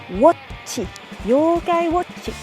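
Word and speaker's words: 妖怪ウォッチ: Avec la bonne prononciation, Yokai Watchi. C'est un wo, un o. Non pas wa, mais wo, et on le retient. Watchi, Yokai Watchi.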